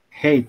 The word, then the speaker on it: hate: Oh sorry, hit bacanya hit ya. Iya, bacanya hate. I hate pakai iya. I hate. Oh, hit itu nanti mukul. Hate bacanya.